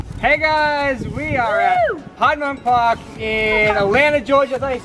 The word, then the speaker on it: Piedmont: Hey guys, we are at Piedmont Park in Atlanta, Georgia. Is that how you say it? Yeah, Atlanta. Yes. No, Piedmont.